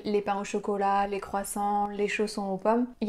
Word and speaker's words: croissant: évidemment le croissant le croissant c'est pas toujours facile à prononcer parce qu'on a le son creux creux qui est pas facile le seul conseil que